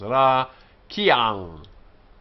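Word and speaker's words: רָקִיעַ: Remember, this here is not a full vowel because it's a furtive or hidden vowel. And so we only have two proper vowels here, and so we only have two syllables. Ra, kiang.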